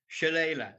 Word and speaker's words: Shillelagh: The family prefix of your cattle is Shilelag. Where did that name come from? Um, Shalala is the name of it, Shilela. like the Oh, song Layla.